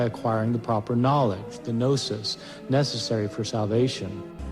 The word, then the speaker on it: gnosis: Gnostic comes from a Greek word gnosis spelled with a G g-n-o-s-i-s gnosis which means knowledge these